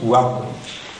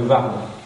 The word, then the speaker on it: Ward: loin vont dire le Vard. Hein, ceux qui ne savent pas qu'on prononce comme en anglais, nous, le W, ou comme en flamand, mais pas comme en néerlandais, ni comme en allemand.